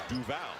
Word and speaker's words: Duval: Trevon, and it's Duval, not Duval. So he has has corrected mistakes.